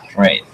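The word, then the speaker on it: Reið: to remind you that R's in our period of time are not pronounced like we pronounce them, but they are rolled slightly. So this would be Reith. You know, just a quick tap, kind of.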